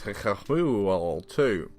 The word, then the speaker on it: HIKIBYOU2: actually liked play the fanfare the game was hit her fool too yep that's the correct English pronunciation to 2d platformer from an indie developer